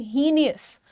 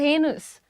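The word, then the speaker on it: heinous: Generally लोग इसको कहते हैं हीनियस। हीनियस नहीं है। The pronunciation is हेनस।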